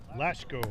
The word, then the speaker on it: Lashko: Lucko, I think is how it's pronounced. I have to double check on how I put it in the sheet here. We have a 2-1 count. Lashko is how it's pronounced.